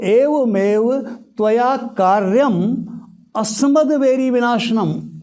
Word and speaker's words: अस्मद: तो एवमेव त्वया कार्यम अस्मद्वैरी विनाशनम उच्चारण उसका इस तरह से हो जाएगा। दरअसल संस्कृत में मस्मद नाम का कोई शब्द ही नहीं है, शब्द है अस्मद।